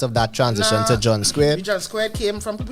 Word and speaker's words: Skweird: Because they see the spelling, not sure how to pronounce it. So it would be like Skweird. Right. Skewed.